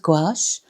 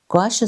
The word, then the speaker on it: gouache: Um so I work with gouache. Um gouache is a French word and it sounds very strange to pronounce, but it's g o u a c h e.